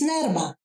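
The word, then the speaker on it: Nerma: My name is Nerrma. Nerrma. Nerrma, yes. See, that's a bit of the roll on the R.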